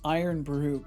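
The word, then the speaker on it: Irn-Bru: Oh, that's pronounced iron brew.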